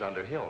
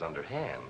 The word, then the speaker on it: Underhill: Mrs. Underhill, not Mrs. Underhand, Elizabeth.